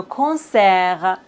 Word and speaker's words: concert: On ne doit pas prononcer S final. T comme le concert.